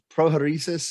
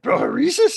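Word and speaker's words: prohairesis: And he said, oh, well, is it prohoresis? Is that the pronunciation? Would you pronounce Yeah, I think so. I mean, approximately, yes. He's like, pronounce it prohoresis. Yeah, prohoresis it is.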